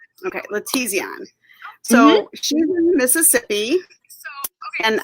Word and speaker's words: LaTezeon: I don't want to mispronounce it. It's LaTezeon. Okay, LaTezeon.